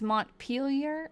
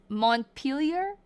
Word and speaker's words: Montpelier: Okay, I got told it was It's Mont Peelier. Okay, someone told me something else. I'm trying to learn. Royy's sister Sherry. Royy's sister Sherry is how you pronounce it. What? You live here. Okay. It's Montpelier.